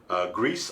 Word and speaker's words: Gris: Grease also got nominated, and that was an interesting indie game. I love that it's called Grease, but it's spelled Gris.